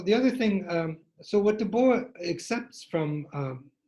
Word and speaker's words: Du Bois: and people called it Du Bois. I'm not sure if it was named after Dubois, but the pronunciation is Dubois, it's French.